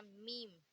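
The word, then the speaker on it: میم: फिर आएगा मीम, इसे हम प्रोनाउंस करते हैं माँ से।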